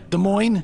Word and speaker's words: Des Moines: Des Moines. Okay. They don't pronounce the S's.